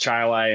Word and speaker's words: Chili: and is it pronounced that way it is pronounced chili and I'm about 20 minutes away like I'm